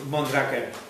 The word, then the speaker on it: Mondraker: we come from from Spain and we call Monica that was the name in at the beginning